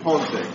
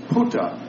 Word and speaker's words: ponte: But it's about me mispronouncing the word ponte. And I asked the guy, where was Punta Garibaldi?